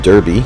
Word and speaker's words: Derby: So, for example, the town of Derby is pronounced Derby, D-A-R-B-Y, Derby in Derbyshire.